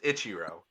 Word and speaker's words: Ichiro: not because I'll say it wrong every time Ichiro I don't even know what you said but it's Ichiro yeah so he would get the first position